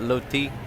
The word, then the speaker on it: roti: right here he's selling what's called roti my type people pronounce that low tea and I'm gonna go